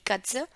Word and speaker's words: Katze: और इसका प्रोनाउंसिएशन है काट्स, काट्स, दी कट्स।